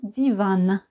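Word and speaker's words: диван: cause de la prononciation par exemple divan un divan qui existent en russe contemporain comme un canapé vous allez vous allez entendre comme d'yvan c'est pas les d'yvan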